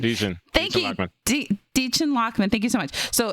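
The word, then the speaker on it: Dichen Lachman: Her name is Deachin Lockman. Deachin. Thank you, Deachin Lockman.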